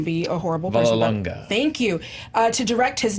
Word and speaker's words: Vallelonga: Green Book's Nick, I can't pronounce his last name. I'm not going to be a horrible person. Vallelonga.